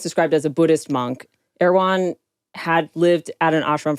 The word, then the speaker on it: Erwan: Erwan. Yeah, I thought it was Irwin. Not Erwan, like the grocery store. Not the grocery store. It's spelled ERWAN.